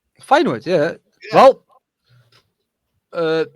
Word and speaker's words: Feyenoord: And I hope I pronounced that right. Feyenoord, yeah.